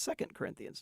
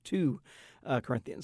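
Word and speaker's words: 2 Corinthians: how to pronounce them he's talked about two Corinthians for example which anyone who's ever been to church know that's second Corinthians not two uh Corinthians so just you know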